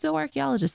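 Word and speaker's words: zooarchaeologist: She always said zo archaeologist. So that's how I've always pronounced it. But now that I look at the word, it definitely is zoo archae.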